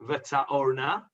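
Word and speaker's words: וַתָּאֹרְנָה: Although it's one of those Korean ktivs, it's not written Vata'orna, it's pronounced Vata'orna. You can see on the screen in brackets, it's actually written Vata'rona. The Aleph and the Resh are put the other way around.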